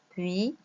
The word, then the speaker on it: puis: Par exemple, puis, on ne prononce pas le S.